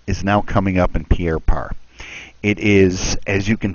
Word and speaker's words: Pierre Part: at it most of these guys are in Pierre part it's spelled pa rt but they pronounce it Pierre